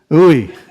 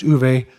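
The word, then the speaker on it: Uwe: against anybody who but just my name it's not very common it's pronounced uve so um thank you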